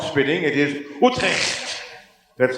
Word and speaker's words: Utrecht: It is Utrecht.